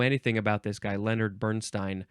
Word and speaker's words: Bernstein: Didn't know anything about this guy, Leonard Bernstein. I think that's how you pronounce it. It's not Bernstein.